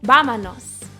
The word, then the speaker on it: vámonos: Even though this word starts with a V, it's gonna sound really similar to the way that the B is pronounced in Spanish. So watch how I say this. Vámonos, not vámonos. It's just a very slight difference.